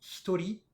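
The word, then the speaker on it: 一人: quatre personnes, cinq personnes, on va avoir une particularité de prononciation sur les deux premiers. En fait, on va lire tout ça en purement japonais. Ce sera hitori et futari.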